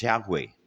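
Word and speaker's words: Yahweh: entonces por ejemplo ellos la pronunciación de ellos es yahwe Sí yahwe sí pero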